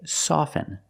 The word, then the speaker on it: soften: words soften and often with both words I don't pronounce a t i say soften and I say often but sometimes you'll hear people say often and it's not wrong it's okay people say both often and often I prefer often now